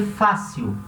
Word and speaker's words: fácil: Esse L vai ser sempre pronunciado como se fosse um L. Fácil. A língua vem pro céu da boca. Fácil. Fácil. Não existe L com som de U, tá?